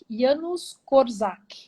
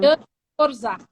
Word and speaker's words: Janusz Korczak: Janusz Korczak, Janusz Korczak. Pronuncia em português Janusz Korczak.